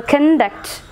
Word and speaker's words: conduct: good weekend okay so conduct so the stress will be on the second syllable conduct conduct okay so words which